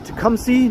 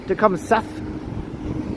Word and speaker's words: Tecumseth: Just crossing Tecumseh, not Tecumseth. Just because it's spelled like that, that's not how you say it.